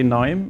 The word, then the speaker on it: KNIME: this video so that everybody knows how our name is pronounced and that the K is silent and so we also